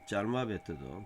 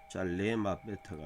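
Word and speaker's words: צַלְמָוֶת: 짤마베트도 짤하고 끊어지잖아요. 짤레마베트가 아니고 어두우면 오로 빛으로 그 다음에 나가 그리고 어두우면 빛으로 비춰진다.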